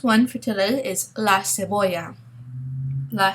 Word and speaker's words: cebolla: We have the hard C, the K, and then the soft C, which we see in cebolla, okay, that C sound, like an S.